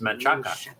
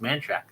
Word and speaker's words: Manchaca: How do you spell that? She says, Manchaca. And I'm like, that's Manchaca. That's Manchaca. And she says, no, it's man shack. So I would have found it the first time if I was looking for Manchaca, but I was looking for a man shack. And so that's how you say it.